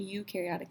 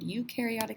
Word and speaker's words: eukaryotic: Eukaryotes rhymes with do, U rhymes with do.